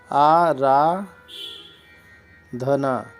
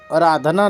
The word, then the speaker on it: आराधना: नहीं आप अभ्यांतर इसलिए इसी तरह आराधना आरा धना अराधना नहीं होता है आराधना होता है इसी प्रकार व्या